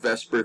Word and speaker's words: VSEPR: we we call it vesper theory the word isn't actually spelling out the word vesper we pronounce this particular acronym this way v s e p